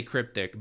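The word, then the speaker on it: RCryptic: Uh the R is technically silent. Like he'll just say cryptic, but for the the case of spelling it out, there's an R in the front.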